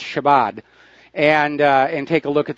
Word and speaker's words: Shabbat: I believe it's pronounced Shabbat.